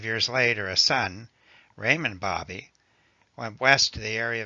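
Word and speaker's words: Baby: When Ned Buntline introduced himself, I replied, "Sir, my name is Raymond Bobby. The name may be spelled B-A-B-Y, but it is pronounced Bobby, as in hobby.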